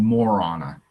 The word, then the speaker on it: Marana: So how do you say it? Marana? I'm new here. It's called Morana.